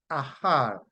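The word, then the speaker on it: אָחַר: And the root word in the Hebrew from which you get that E-H-A-R is A-C-H-A-R, and it is pronounced ahar, ahar, ahar, and it means to loiter or to procrastinate, to defer or to delay or to tarry.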